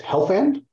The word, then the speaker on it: Helfand: And then next we have Harriet, and it's Helfand. Did I pronounce that correct? You did. That is correct.